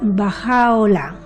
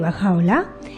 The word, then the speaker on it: Bahá'u'lláh: debe ser un hombre un poquito difícil de pronunciar por nosotros no se pronuncia baja ola Qué significa la gloria de Dios en varios escritos del Back hay referencia que baja ola era El mensajero divino